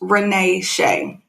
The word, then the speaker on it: Renee Shay: too this comes from it's pronounced Renee Shay okay girl I'm glad you broke